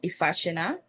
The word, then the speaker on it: Ifasina: mispronouncing it or even claiming that they can't pronounce it, because it's an easy name to say, Ifasina.